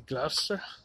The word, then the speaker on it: Gloucester: work but uh apparently gloucester is actually gloucester that's glass i think i'm even doing